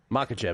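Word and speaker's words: Makhachev: Makachev as you pronounce it. I say Machev, but Makachev he he has the advantage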